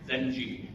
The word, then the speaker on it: Genghis: This one is actually a puzzle, pronounced Zenji. The last S is silent.